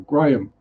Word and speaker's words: Graham: Still not over the fact that fire has one syllable, so I refuse to now learn Graham as 2 syllables. It's one. It's 1 syllable. Graham.